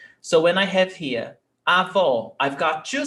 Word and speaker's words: avó: So when we have this accent mark, acento agudo, it has an open vowel sound. O. When we have this accent mark, we have a closed vowel sound. O. O. So we change the sonority. Avó, grandmother. Avó. Avô, grandfather. Avó, avô.